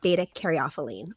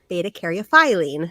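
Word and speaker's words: beta-caryophyllene: to be talking about beta caropine or beta caropine depending on how you say it said both ways both are correct so beta cophine is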